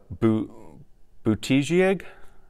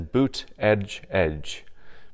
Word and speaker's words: Buttigieg: last night Pete uh bo boutigeg not sure how you say it on his Twitter he has the phonetic spelling of it as as boot Edge Edge Pete boot Edge Edge I I'm sure I'm